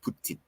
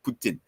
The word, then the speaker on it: poutine: no no no that's not Putin and it's pronounced Putin I should be saying correctly Putin and uh I remember my sister the first